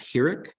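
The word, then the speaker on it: חיריק: Okay, and it's hirik. And it makes the E sound. Okay, so E as in B.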